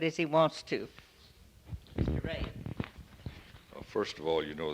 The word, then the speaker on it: Rey: would you give us your name please and spell it out bruce e ray r-e-y r-e-y all right you see this recorder